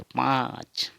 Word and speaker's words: पाँच: पाँच, पाँच नाक से उच्चारण होगा पाँच।